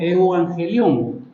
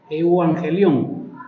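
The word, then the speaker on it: εὐαγγέλιον: los latinos pero se se pronuncia como eu angelón eu angelón que está compuesto por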